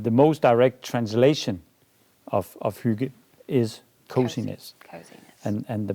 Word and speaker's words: Hygge: Called, I hope I pronounce this correctly, Hygge. Exactly. Okay. Hygge.